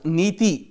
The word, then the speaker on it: NITI: dissolved the Planning Commission pronounced nathie meaning policy in Sanskrit the acronym stands for